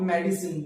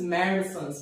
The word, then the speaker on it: medicines: So this is not medicine, this is medicines, medicines, पागल पुत्र, medicines, इस ध्यान आपको याद रखना है।